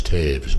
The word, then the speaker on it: Taves: The correct pronunciation is Taves, by the way. Taves? It's like it's a V.